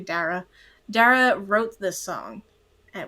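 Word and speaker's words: Dara: it's so beautiful and darra I've been I've been saying her name wrong the first two episodes I'm so sorry I've been saying dar it's actually darra darra wrote this song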